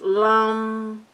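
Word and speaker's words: लं: I think it's lamb or it's lam. Maybe lamb. I'm not sure. Oh, okay. Rhyming with drums. So it's lum, lum, lum.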